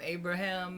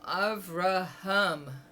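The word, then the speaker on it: Avraham: I used to call him Abraham. And he got really upset and he said, "I'm not a ham. I'm Araham." And so I learned how to say it the way he wanted.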